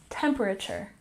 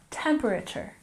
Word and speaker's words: temperature: let's look at pronunciation temperature has emphasis on the first syllable temperature temperature good and 44 scale